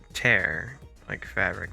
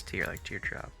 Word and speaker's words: Purple Tear: lose fun fact is supposedly pronounced tear like fabric but everyone just says tear like teardrop i'm surprised i read